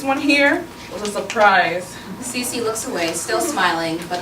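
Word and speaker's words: Cici: Cece looks away, still smiling, but a little awkward.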